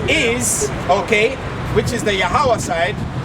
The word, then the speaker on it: Yahweh: This is the reintroduction of the correct pronunciation of the name Yahweh.